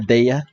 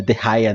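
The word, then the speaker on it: Dehya: Agora eu sei, o nome dela é Deia, não é Derraia não, como eu tinha visto no YouTube lá, a pronunciação do nome dela. É Deia mesmo.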